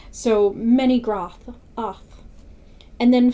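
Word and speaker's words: Menegroth: And the reason why I'm saying the O like that is because in the first video I talked about the O having an octopus sound. So it's groth, oth, bra, It's always octopus.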